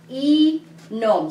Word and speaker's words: inom: What is the first syllable of the word inom? It's just one letter, right? The letter I. E-nom.